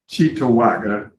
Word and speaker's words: Cheektowaga: Pronounce that. Cheektowaga? Cheektowaga Yes, sir.